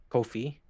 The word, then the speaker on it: Ko-fi: It's Ko-Fi, no fee. Kofi. Yes, Yes. they just recently clarified what the pronunciation is. It is indeed Kofi. Like As in coffee. no fee. Actually, yeah, Like- it's like Kofi Kingston.